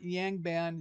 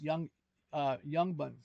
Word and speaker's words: Yangban: So it's not Yangban, it's not Yangban, it's Yangban.